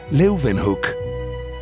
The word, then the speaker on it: Leeuwenhoek: L-E-Y, Leuven, se pronuncian con una B, Hoek, Leeuwenhoek.